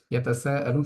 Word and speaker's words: يتساءلون: আম্মা ইয়াতাসাআলুন, এখানে এসে ইয়াতাসাআলুন শব্দটার মধ্যে সিনের মধ্যে আমরা 4 আলিফ পরিমাণ টান দিয়ে পড়ছি।